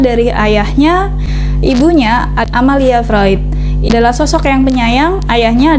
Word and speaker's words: Freud: menyamakan dulu psikm anfroid tulisannya Freud tapi kita bacanya vroid sama kayak psychoanalysis walaupun